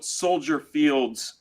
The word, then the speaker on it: Soldier Field: Field yeah it is you don't pronounce the S it's like Illinois yeah EX stence stupid